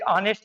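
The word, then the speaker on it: honest: जैसे एक ऑनेस्ट की बात की गई, देखो ये से लगा हुआ है, ये देखो ये से लगा हुआ है, लेकिन बात है ये साइलेंट है, हमें ऑनेस्ट ओ से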